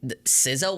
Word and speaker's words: SZA: It like when you see it, it literally looks like it's pronounced Sa.